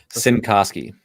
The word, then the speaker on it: Cincoski: Cincoski. Cincoski. Okay, I've heard it pronounced all different ways in the last few days.